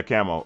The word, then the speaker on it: K4MO: Like, is it Camo? And just because the number's throwing me off. I always assumed it was Leet Speak. It was just Camo, but. Okay. Yeah, Camo. Okay.